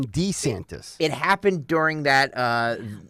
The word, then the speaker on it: DeSantis: last night too he he pronounced his last name differently again he did he said decent yeah not wrong DeSantis but Ron D santis it happened during that